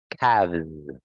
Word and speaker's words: calves: And in this word, you have a silent L actually. So you don't need to say the letter L there. It's calf, calves.